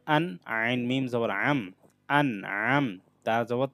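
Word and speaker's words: أَنْعَمْتَ: আইন মিম জবর আম, আন আম, তা জবর তা, আন আমতা, আইনটা গলার মধ্যভাগ থেকে উচ্চারণ করতে হবে।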